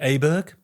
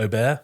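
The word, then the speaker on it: Åberg: Ludwig Aberg, or Aubert, sorry. Aubert, that's his name.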